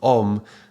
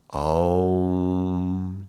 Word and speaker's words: Om: Yeah, so in this case, the sandhi, this union of sound going from the A to the U, that is pronounced as an O. So if you read in Wikipedia, it will talk about how through the normal rules of Sanskrit grammar, then this would be pronounced as a O, like a long vowel O.